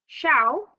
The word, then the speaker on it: Xiao: Xiao, whose name is pronounced Xiao, as in shower, and his brother both work at a factory that produces machines that make ice cream.